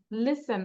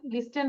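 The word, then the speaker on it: listen: silent থাকবে LIS TEN লিসেন আমরা কি বলি লিস্টেন বলি না কি বলি লিসেন টি উচ্চারণটা হবে না দেন CASTLE, এই যে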